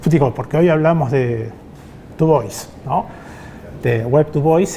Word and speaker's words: Du Bois: Bueno, búsquenlo, Du Bois, se escribe con B larga, es Dubois, porque es un apellido francés, pero bueno, como él era norteamericano, le dicen Du Bois, vamos a respetar, ¿no?